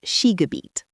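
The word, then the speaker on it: Skigebiet: Today's first German word is thus sheabet. Pronunciation thus sheab meaning in English ski area, ski resort or skiing region. How to remember this word? She sounds like English ski.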